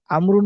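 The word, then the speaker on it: عمرو: এতটুকু আচ্ছা বিশেষ দেখেন আমরুন শব্দের শেষে ওয়াও থাকলে উচ্চারণ হবে আমরুন আর ওয়াও না থাকলে উচ্চারণ হবে ওমর যেটা আপনার অনেকে জানি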